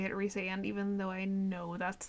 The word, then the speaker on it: Rhysand: It hurts to say it Rhysand, even though I know that's the correct pronunciation.